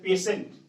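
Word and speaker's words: patient: लेकिन यदि इस टी के बाद आई ए, आई ई या आई ओ हो तो उसका उच्चारण होता है स। देखिए जैसे पेशेंट, यहाँ क्या पढ़ते, देखिए टी के बाद क्या है टी है, टी के बाद क्या है आई ई, आई है ना, तो पेशेंट, पेशेंट मीन्स रोगी।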